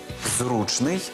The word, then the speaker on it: зручний: словники не знають слова черговий Отже запам'ятовуємо випадок зручний черговий і таке наголошування ніякий не вибрик моди такий наголос ці слова мали і 100 років тому